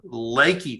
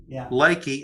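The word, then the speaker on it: Leakey: l-e-a-k-e-y leaky Texas but it's not pronounced leaky Texas it's pronounced Lakey Texas Lakey it's up uh in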